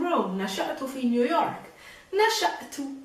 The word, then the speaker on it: نشأت: نشأت, remember there's a stop. نشأت, just like the رئيس.